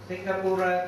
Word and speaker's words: Singapura: Singapore means Singapura. Pronunciation is different. Singapura, this is a Pali town, Singapura, Lion City. Then now, according to pronunciation, it's Singapore.